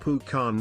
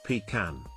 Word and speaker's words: pecan: It is pronounced Pukan, not Pan.